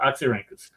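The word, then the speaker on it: Oxyrhynchus: at oxy how do you say this oxy oxy ranus there you go oxy ranus oxy ranas um you had two uh uh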